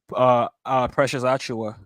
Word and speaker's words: Precious Achiuwa: Is it Patua? How you say his name? Precious Achiuwa.